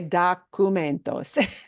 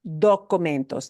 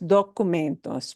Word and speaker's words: documentos: that word documentos, because one of the cardinal sins that we English speakers do is we really, really want to say documentos. And we do have to pronounce this as documentos, documentos, with that nice o, right?